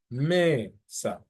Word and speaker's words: mesa: So for example, the word mesa, so the ME would be the second to last syllable and the SA being the last syllable. So the emphasis would be on the ME.